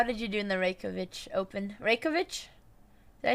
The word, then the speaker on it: Reykjavik: you do in the reykjavic open reykjavic did i say that correctly i think it's pronounced reykjavik but there's like a silent j in there somewhere and oh icelandic is